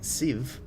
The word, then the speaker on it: sieve: And then I wanted to call it a sieve, which I think is just how I usually see sieve pronounced. It is S-I-E-V-E, not like Steve Minecraft.